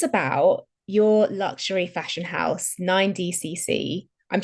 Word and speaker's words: 9DCC: So tell us about your luxury fashion house, 9DCC. I'm saying it correctly, 9DCC.